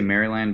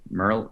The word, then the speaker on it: Maryland: I say Maryland, but it's Merlin.